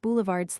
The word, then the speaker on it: boulevard: Vaudeville is vaud, ville, boulevard has a hard D at the end.